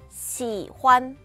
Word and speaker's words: 喜欢: 그래서 발음 한번 보도록 할게요. 시환. 시환, 시환이라고 발음하시면 됩니다.